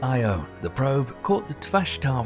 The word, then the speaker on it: Io: On Io (pronounced eye-o), the probe caught the Tvashtar volcano in action, capturing a volcanic eruption that reached 200 miles into space.